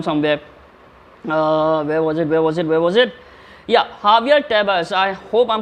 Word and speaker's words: Javier Tebas: Yeah, Javier Tebas. I hope I'm pronouncing his name right.